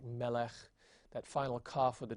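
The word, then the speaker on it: מֶלֶךְ: Those 2 dots is really a Shewa, and it's a silent Shewa because any Shewa at the end of a word is considered silent.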